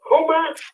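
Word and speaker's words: Huma: the name have you heard the name no spell that out for me h-u-m-a Houma Avenue Ein hook her up now what they're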